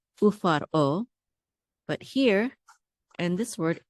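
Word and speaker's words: ופרעה: Remember here I said when we say faro, we don't say the resh together because we have the shava. The shava makes us stop. Okay. Ufar, and this makes it a separate syllable, o. Ufar o.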